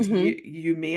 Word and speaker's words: Umiya: Well, it's because your journey as the practitioner, I feel like UMIYA, it's pronounced UMIYA, and it's spelled UMIYA.